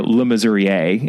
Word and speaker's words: Le Mesurier: I mean, the opening involves, this innocent woman whose last name is Le Mesurier, or Le Mesurier, if you're pronouncing it in more of the Francophone way.